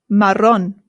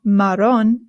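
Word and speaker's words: marrón: Next one is maron. Maron. Maron. The double a in Spanish is what rolls. Sorry. The double a in Spanish is what rolls. So it's not maron. It's maron.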